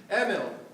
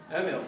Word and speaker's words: Emil: make sure you pronounce the first name correctly Emil accents are the first syllable Emil the son of uh David and Diana baby